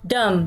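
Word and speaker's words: dumb: आउट टो बे सो डम डम का मतलब होता बेवकूफ और इसको प्रणाम करते हैं जो है वह साइलेंट है हम इसको यूज करते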